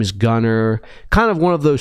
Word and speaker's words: Gunnar: He has a brother whose name is Gunnar. Now, Gunnar, not ER. Gunnar. So it's not Gunnar Stockton, it's Gunnar. It's still pronounced the same, but it is kind